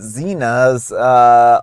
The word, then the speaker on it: Zhena's: I have a the the Zhena's ultimate green tea today. Mhm. I'm going to pronounce it like Zhena, like the warrior princess.